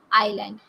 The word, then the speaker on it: island: can improve our pronunciation island is l a nd is island it is not island it is island we have s silent here so this is island